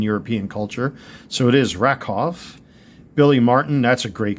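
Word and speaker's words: Rakow: Ed Rakov, which is pronounced properly since a W is pronounced in a V in European culture. So, it is Rakov.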